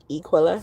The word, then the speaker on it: Equila: My real name is Equila. Okay. And um there is a character in the Bible, his name was Aquilla, spelled with a a instead of a E like mine.